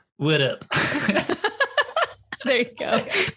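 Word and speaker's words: WITT: like well that's a mouthful how do you pronounce that and i was like oh it's widow there you go it's kind of like what's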